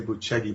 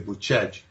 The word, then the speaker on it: Bucegi: Well, the claims are that in the mountains of Bucegi, it's spelled Bucegi, we'd say Bucegi, but they say Bucegi, and that's in sort of on the border.